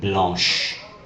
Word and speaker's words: blanche: When C is combined with H, you get a sh sound, such as in the word blanche, pronounced with an SH.